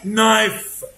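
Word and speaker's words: knife: حرف الكي لتر كي لو جه بعده ان يبقى الكي سايلنت اهو. نو، نيف، نايف، ناك، ني، نابساك، نت، نوت. كل الكي سايلنت عشان بعدها ان.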